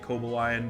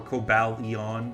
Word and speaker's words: Cobalion: Um we missed our chance to get Cobalion which would have been uh or Cobalon whatever.